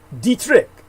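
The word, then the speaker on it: Detrick: His name is spelled D-E-T-R-I-C-K. Dietrich, like he's a whore or something.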